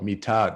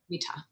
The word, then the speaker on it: Mitha: Oh, Mitha. No, it's not tha, it's ta. Mitha.